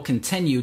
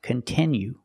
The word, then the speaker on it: continue: content that you like it's not pronounced continue it's pronounced continue we have to use a short sound I like this is we have the letter i which makes the sound I and it's a stress syllable continue we cannot change that sound we cannot say continue we have to use the is sound continue example if you continue